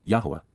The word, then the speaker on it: Yahowah: walk to get the most out of life, Yahowah, Yahowah, the proper pronunciation of Yahowah, our Eloah, God as directed